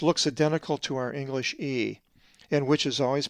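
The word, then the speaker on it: ἔα: A Greek word that has the lowercase epsilon is ea, which is like an explanation like ah, and is number 1436. The accent is over the epsilon.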